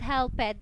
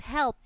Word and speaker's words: helped: Oh, that's not helped. It is helped. Happened. Helped. It is pronounced as T.